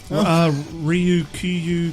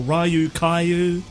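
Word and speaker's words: Ryukyu: Do you want to help me pronounce this one, buddy? Ryu Kyu Kingdom declares independence, or Ryu Kyu Ryu Kaio, I like the sound Tomato of that.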